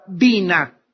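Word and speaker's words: בינה: La palabra inteligencia en el hebreo es la palabra bina. B grande, Y, N, A, H. Bina.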